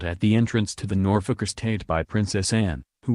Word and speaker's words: Norfolk: happy to be in Norfolk pronouncing the second syllable as in folk music the Princess Royal shot her a withering look and told her it's Norfolk as in nor f-ck secretly Anne was pleased that